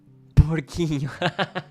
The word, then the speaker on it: porquinho: Porquinho. Sim. Jacob, correto. Mas, in Portuguese, C plus E and C plus I sound like S instead of K, meaning that spelling would be porcinho.